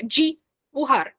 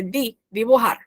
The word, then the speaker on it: dibujar: Observem sempre a pronúncia do D, que o D é aquela coisa pura. A gente, por exemplo, em português falaria dibujar, certo? Não é é dibujar, tá?